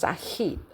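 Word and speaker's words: Said: Another example of eurosentrism is a specific form of othering called orientalism analyzed by a butad pronounced sahit which has been practiced in Europe, Britain and America.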